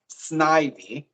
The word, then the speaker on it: Snivy: So first, I will say it's Snivy. Nice. But that's okay. Um, Believe me, the way the Pokemon names are pronounced is a big point of contention around the Pokemon community. So say it however you say it. But from the anime and everything like that would be Snivy, like Ivy and Snake, I guess.